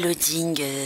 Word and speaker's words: Laading: moteur de recherche Loding, tout simplement Loding. Alors Loding, ça s'écrit L-2-A-D-I-N-G.